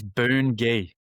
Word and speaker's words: Bungie: Do you know how that's pronounced? It's Boon-Gi.